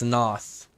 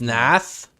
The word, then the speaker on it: Nath: oh Loth asked Nath I thought it's Noth is it it's Nath yeah it's Nath dang now I'm getting